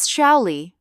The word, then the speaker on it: Shaoli: "My name is Shaoli," pronounced like Sholi.